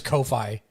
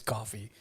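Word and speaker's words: Ko-fi: co it's called coffee i thought for a long time was kofi and then i realized it was coffee buy me a coffee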